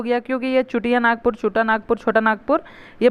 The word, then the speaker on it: छोटा नागपुर: होने लगा ठीक है उनको ब्रिटिशर्स को बोलने नहीं आने लगा तो छोटा नागपुर करके प्रोनाउंस एशन करने लगे छोटा नागपुर चुटिया छुटा नागपुर इस तरह से करने लगे ठीक है उसके बाद